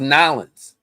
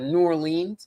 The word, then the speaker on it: New Orleans: Oh, I thought it was Nolans. Nolans. I'm out in Nolans. Nolans. Right? Nolans. That not New Orleans. Nolans. That's how you do it.